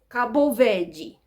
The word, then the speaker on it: Cabo Verde: But the Portuguese pronunciation is Cabo Verde.